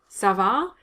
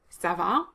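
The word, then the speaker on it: ça va: very neutral conversational french sava again here both a's are strong a sound so it's not sava it's sava and the second one is longer because it's stressed so so that can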